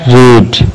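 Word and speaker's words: read: Next है रीड, पढ़ना, इसकी सेकंड रेड और थर्ड भी रेड कहलाती है अगरचे स्पेलिंग सेम ही है।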